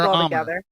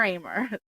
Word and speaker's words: Ahmer: name it it like it's not gamer armor no not how it looks the H is silent it's gamer Amer always my life um